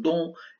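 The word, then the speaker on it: dont: إذا الN T لا تلفظ دون، وهناك شدة على الدي دون أو. إذا دون.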